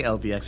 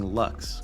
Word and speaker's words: LVX: I always say LVX instead of saying Lux, because it's Lux.